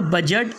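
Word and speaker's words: budget: इसके बाद में सातवां रूल है हमारा, जब डी के बाद जी आ जाए तो डी के बाद क्या आएगा? जी आएगा तो डी साइलेंट होगा। जैसे पहला वर्ड प्लेज, यहाँ डी को नहीं पढ़ना है।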